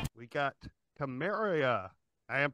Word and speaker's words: Carmeria: got Carmeria. I am pronouncing that right.